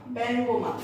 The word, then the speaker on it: ব্যঙ্গমা: ব্যঙ্গমা, দেখো প্রথমে এ আছে, তারপরে আছে উ, সেই কারণে এর উচ্চারণ আমরা এর মতো করে থাকি।